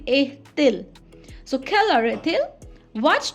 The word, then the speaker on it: est-il: A and il combined, it will be est-il.